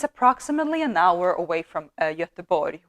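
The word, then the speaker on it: Göteborg: an hour away from yatabori which is known as gothenburg uh and yatabori is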